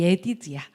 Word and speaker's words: 예디드야: 이 예디드야. 네, 우리 연준이 이름이 여디디아죠. 우리가 이제 그 개역개정 발음으로 하는데 왜 예디드야라고 읽었느냐? 모음까지 보니까 그렇더라고요.